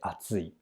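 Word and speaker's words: あつい: atsi absi and atsi all three are pronounced the same way atsi but the kanji are different the first atsui indicates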